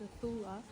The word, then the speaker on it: Nacula: currently staying at the Blue Lagoon Resort in Nakula, pronounced Nathula Island, in Fiji.